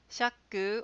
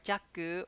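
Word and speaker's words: 赤口: This one can be pronounced shaku or jaku or jakko or shakko or sekiguchi.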